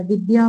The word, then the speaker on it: विद्या: विद्या में upon the को पढ़ते हैं ना इसमें द और य का उच्चारण होता है। इसमें द आधा रहेगा और य पूरा रहेगा।